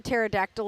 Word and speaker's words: pterodactyl: Why can't you hear a pterodactyl and go to the bathroom? Because the P is silent.